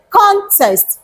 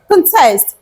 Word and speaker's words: contest: pronounce the noun context and how do you pronounce the verb cont test the first one contest the second one contest and now let me tell you what it